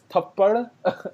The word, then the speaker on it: Thappad: So that's Thappad. That's how you pronounce it for the full.